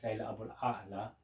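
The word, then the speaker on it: Leila Aboulela: Lyrics Ali by one of my favourite novelists, Layla Abul A'la. That's how it should be pronounced.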